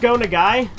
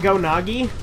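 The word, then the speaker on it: Go Nagai: to piss off weaves because it's pronounced going a guy but I used to say it go Nagi which is very different I'm tempted to keep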